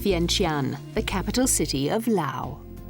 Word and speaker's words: Laos: French Empire in Indochina it was the French who added the letter S to the country's name meaning that it's often mispronounced as Laos in 1953 the Franco Lao treaty granted full independence